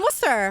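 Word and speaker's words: Worcester: you really yeah and wer oh my God I'm Holy Cross I am worldly it's wer and W W but it's spelled like Worchester I know I know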